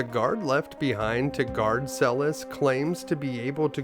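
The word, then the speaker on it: Celes: Now, it's possible that her name could be pronounced Cis, but I think that it's supposed to be more like Monica Celis the tennis player. So, that's what I'm going to go with.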